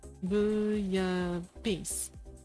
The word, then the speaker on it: bouillabaisse: Okay, so pronunciation is bouillabaisse.